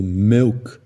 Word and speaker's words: milk: Um exemplo que eu gosto de usar bastante é o do milk, que muitos falam milk. Quando falam milk, estão pronunciando aquele I do primeiro conjunto, mas o correto, se você olhar na fonética, vai estar com esse I, simbolizando que é milk.